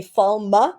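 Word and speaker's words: Faile: to they say F in the audio books listen to they say falma it's two syllables so I get I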